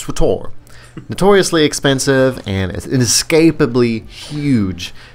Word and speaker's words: SWTOR: We go back even further in Star Wars history with our number 4 pick, Star Wars The Old Republic, pronounced SWTOR.